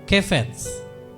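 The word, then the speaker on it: חפץ: Kesukaan itu, bacanya ini saudara ya, kefets, kesenangan, kenikmatan.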